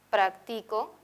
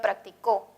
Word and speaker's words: practico: Mientras que tiene un par mínimo, es decir, existe una palabra también en la lengua que tiene las mismas consonantes y vocales, practico, pero que el acento se ubica en otra sílaba, ya que tiene posición libre.